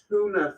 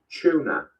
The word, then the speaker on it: tuna: A tin of Americans would say tuna fish. This is highly incorrect. It's pronounced tuna. Everybody knows that a t followed by a u is pronounced ch.